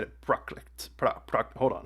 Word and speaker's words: Prakrit: Okay, he said it Prakrit.